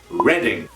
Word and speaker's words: Reading: up northern from london it is pronounced reading you've probably heard of the reading festivals that's where they take place reading not reading but reading number 13 is a